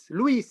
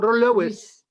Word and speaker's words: Lwiis: Lwiis. It is in French Louis or Louis. Okay, Lwiis. In Arabic we pronounce it Lwiis or Lewis.